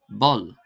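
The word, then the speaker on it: bpoll: The letter P, this becomes BP and is pronounced as a B sound. For example, the word pull, pull, P-O-L-L, pull, pull, meaning hole, would become bull, bull, B-P-O-L-L.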